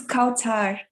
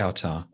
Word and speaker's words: Kautar: Yeah, my name is Kautar. Qatar. Like that? Kautar. Exactly.